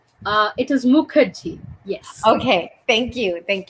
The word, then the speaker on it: Mukherjee: have a beautiful and amazing guest dr makahi am i pronouncing it correctly uh it is mukherjee yes okay thank you thank you for and